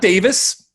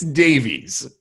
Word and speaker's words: Davies: pronounce alfonso davies okay it's not davis it's davies all right uh all